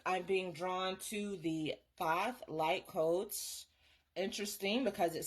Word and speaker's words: Thoth: Thoth pronounced thath also known as Tahiti is the ancient Egyptian ibis headed god of writing divine magic and the moon.